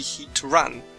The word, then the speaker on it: Heatran: using the rule of Rose raid the correct pronunciation should be heat Ran So heat ran heat ran Heatran so this